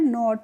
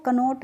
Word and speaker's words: knot: तो इसका भी एक रूल होता है, जब भी किसी वर्ड में के बाद एन आता है तो वहाँ पे हम के का प्रोनाउंसिएशन नहीं करते हैं, इसीलिए हम इसको कनोट नहीं पढ़ते हैं, क्या पढ़ते हैं, नोट पढ़ते हैं।